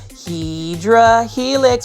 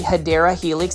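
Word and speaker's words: Hedera helix: you guys off with a random shout of Hedra Helix, but it's basically me mispronouncing a um plant name. It's actually Hideera Helix.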